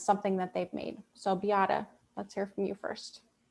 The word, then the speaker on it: Beáta: My name is unusual, and the reason there's an accent over the A is because it helps Americans understand that there's 3 syllables to my name, not just 2. So it's Beáta.